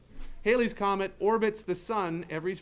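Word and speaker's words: Halley's: like planets do hayley's comet that looks like hallies it's hailey's pronounced haley's comet orbits the sun every 76 years now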